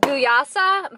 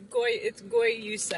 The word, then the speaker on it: guayusa: I just got the Paradise Found, and there is pineapple, mango, guayasa, blue magic, ginger, and lemon. It's guayusa. I remember saying it wrong.